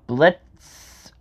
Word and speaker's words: Blitzø: Blitz, the O is silent, of course.